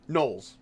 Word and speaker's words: gnolls: these people are the gnolls or thalls or what is it? Gnolls. Gnolls with a silent G.